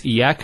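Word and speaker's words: إِيَّاكَ: Iyaka. Notice the ya, it's a double vowel because of the shadda there.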